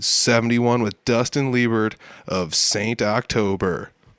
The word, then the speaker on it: Saint October: But it's Saint October, right? Yeah, it's exactly how it sounds.